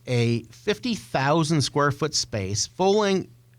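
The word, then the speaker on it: Fowling: um it is a 50,000 squ foot space fing rhymes with bowling it's a mashup between football and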